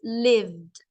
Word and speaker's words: lived: So if I said live, and this one is lived, okay, it only has like one syllable, so lived.